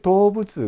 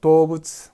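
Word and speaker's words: 動物: 자, 코도문이 자 동물을 도부츠 그러죠. 도부츠 항상 한자를 외울 때 제가 왜 적어주느냐? 동은 도우다, 물은 부츠다 이렇게 발음이 난다라는 얘기입니다.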